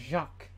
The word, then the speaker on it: Jacques: Now it's pronounced Jacques.